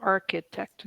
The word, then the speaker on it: architect: architect architect architect AR make sure you get all three syllables architect yeah she's an architect